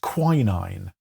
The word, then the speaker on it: quinine: Did you know the Americans pronounce it quinine? I did not know that. Do you know what quinine or quinine is?